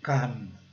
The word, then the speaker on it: come: É come, come.